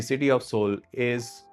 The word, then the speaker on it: Seoul: ऑफ साउथ Korea is सियोल और सोल whatever you pronounce it I will pronounce it एज सोल फॉर the rest of the video because वहां जब मैं गया था तब लोग ऐसे ही बोलते थे।